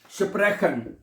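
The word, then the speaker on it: sprechen: अगला लफ्ज है स्प्रेखन। क्या है? स्प्रेखन, ठीक है, ओडा स्प्रेशन, ठीक है। ये जो CH है ना, CH, ये खे और शीन दोनों की आवाज में पढ़ा जाता है, ठीक है, दोनों पढ़ी जा सकती हैं, ठीक है।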